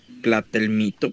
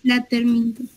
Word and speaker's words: platelminto: Platelmito. Platelmito. Es platelminto. No, platelminto. Así está bien.